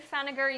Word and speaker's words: Pfenninger: I'm gonna say the P is silent. Brittany Feniger, you are my first Buffbunny collection gift card winner.